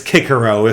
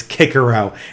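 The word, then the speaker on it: Cicero: It's Kikero. And it's Kaiser, not Caesar. Because didn't you know, guys, Latin had a hard C, not a soft C.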